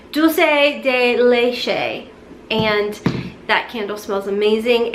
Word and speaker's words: dulce de leche: it down this morning it's actually Dulce delay Shea probably still butchered that but I'm pretty sure that's how you say it dulce de leche and that candle smells